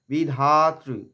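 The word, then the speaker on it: বিধাত্রি: বিধ্বংসী বিধাত্রী বারদে নমহ বিধাত্রী বিধাত ধা এর পরে ত এর মত একটা আঘাত চলে আসে কিন্তু এখানে আঘাত হবে না বিধাত্রু বারদে বিধাতৃধাতৃ রু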